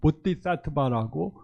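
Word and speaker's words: बोधिसत्त्व: 그래서 보띠 사트바라고 보통 산스크립트로 말하고 티베더은 보리사타라고 발음합니다.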